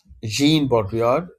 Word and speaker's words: Jean Baudrillard: of our course, Baudrillard, Jean Baudrillard, Jean, because he was a French philosopher, and because it's a French word, that is why we will pronounce it as Jean, not Jean.